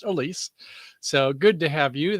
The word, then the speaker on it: Alsea: Everyone's like Alicia, isn't it? No, it's pronounced Elise.